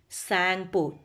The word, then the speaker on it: Tsangpo: Okay, where it is called Tsangpo. What is it? Tsangpo. T is silent there. Okay, Tsangpo.